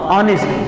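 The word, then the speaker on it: honest: अब जैसे एक वर्ड मैं यहां पे लिखूं एच ओ एन ई एस टी। ये क्या लिखा हुआ है? हां ऑनेस्ट। लेकिन पहले इसको क्या बोलते? हॉनेस्ट बोलते थे। मतलब कोई साइलेंट वगैरह नहीं रहता था।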